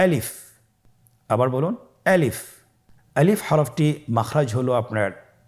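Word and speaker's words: ألف: আলিফে কিন্তু কোন টান নেই। আপনারা বুঝতে পারতেছেন আমি যখন আলিফ বলছি এর মধ্যে কোন টান হবে না। আলিফ। আবার বলুন আলিফ।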